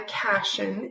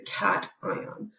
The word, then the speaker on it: cation: call that a cation it's not a Cashion it's a cation so you can remember